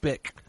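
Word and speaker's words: Bich: I looked it up I looked up the pronunciation it's bck like the lighter oh that's right so but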